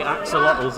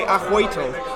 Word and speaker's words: axolotl: Axolotl is not actually how you're supposed to pronounce it? Oh, It's actually Ahoitl. a hoitle. Yeah, because it's a native word.